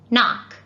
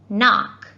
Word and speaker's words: knock: middle of a word let's look at these two examples knock and knife now you've probably heard these words before what letter do you think they start with knock hmm it sounds like a na sound let's see no it starts with a k a silent k the k is completely silent and what about knife